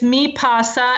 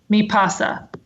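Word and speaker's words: MiPasa: I get it right it's me pasa mi PA si me pasa okay got it okay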